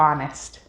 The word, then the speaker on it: honest: rhinoceros what and choir it is also often silent at the beginning of words such as hour or honest k k is always